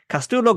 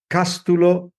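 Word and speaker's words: Cástulo: a pleasure being here I hope you don't mind me correcting the pronunciation you don't you don't need to comply but it's Casto now for for short you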